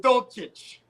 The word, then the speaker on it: Dulcich: Greg Dulcich, that's the rookie tight end. It's pronounced Dulcich.